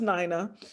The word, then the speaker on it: Nina: Du Bois, and her name was Nina Gomer Du Bois, and is pronounced Nina.